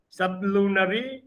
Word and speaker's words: sublunary: And in the poem, Valediction Forbidding Mourning, we come to find the reference to dull sublunary. It's to be pronounced as sublunary, not of the lunary level, but below the lunary level.